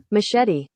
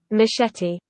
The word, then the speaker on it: machete: here oh my goodness machete that's the american pronunciation that's good let's go to british pronunciation machete machete machete but does adele sing